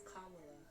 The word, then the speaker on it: Kamala: be kamila it's not kamila Harris no it's Kamala it's Kamala they whole thing on how to pronounce a name is like comma like the word comma like comma okay so